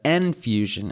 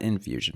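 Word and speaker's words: Enfusion: Arma Reforger uses the N-Fusion engine, not Infusion, my bad, which offers improved graphics, physics, and AI behaviors, providing a more immersive experience.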